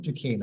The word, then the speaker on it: Duquesne: it Duquesne hey oh my goodness do not pronounce anything correct over there Fort Ducane I'll try and remember that in the future